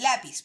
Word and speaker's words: lápiz: También en el caso del lápiz, por ejemplo, que termina en una Z, que es otra consonante. Si terminara en ese lápiz, no se acentuaría. Pero como termina en Z, sí.